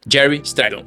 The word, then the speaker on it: Gary Strydom: Escreve Gary Stridon, mas a gente pronuncia Jerry Stridon.